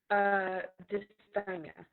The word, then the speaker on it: dysthymia: I pronounced it right? dysthymia.